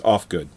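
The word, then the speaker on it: Ufgood: And but Willow's last name is Oofgood. Oofgood. Willow? No, I think it's Offgood. It's spelled Oofgood. But I think he pronounces it Offgood, or like he should pronounce it "fuck off" because fuck I off.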